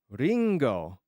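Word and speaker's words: りんご: Ichigo Ringo is Apple. Yes. Very very right. Wasabi. Very right. Ringo.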